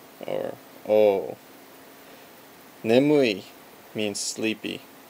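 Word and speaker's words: 眠い: Nemui means sleepy. Ne, mu, I. Pretty easy because it's pronunciations that exist in English as well.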